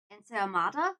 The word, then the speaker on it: ensaimada: Ensaimada? Ah, okay, that's how you pronounce it.